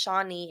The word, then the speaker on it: Sawnee: It's Saunee. These how you Sawnee, but it's pronounced Shawnee in Cherokee.